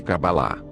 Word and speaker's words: Kabbalah: palavra cabala o branco cuja pronúncia mais próxima do original é kabbalah significa receber recebimento acabar